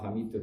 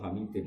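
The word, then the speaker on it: حميد: Bacanya ya tetap ila hamidun karena i'rab hikayah. Enggak boleh kamu baca ila hamidin apa?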